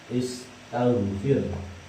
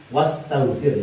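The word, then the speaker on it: استغفر: Hamzah wasal adalah hamzah yang ketika di awal kalimat terbaca dan ketika bertemu dengan yang lain, ketika diawali dengan yang lain tidak terbaca. Contohnya seperti lafal istaghfir. Ini kan fi'il amar juga, astaghfir. Ini ketika di awal dibaca. Tapi ketika ditambah bertemu dengan yang lain, misalnya bertemu dengan wawu, jadi wastaghfir ini tidak dibaca.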